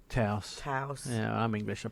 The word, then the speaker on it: Taos: going to talk to mark gillies about the taos no taos taos yeah i'm english i pronounce it how i want jeff pope is